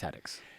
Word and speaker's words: Hattix: It's Hattix.